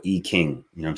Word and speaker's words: I Ching: i e Jing or I Ching um is actually supposed to be pronounced I came or E King you know what I'm